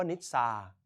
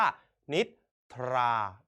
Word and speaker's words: นิทรา: นิทรา เห็น ไหม ครับ นิทรา คำ นี้ ไม่ ได้ อ่าน ว่า นิชา แต่ อ่าน ออก เสียง ว่า นิดา เป็น พวก แท้ นะ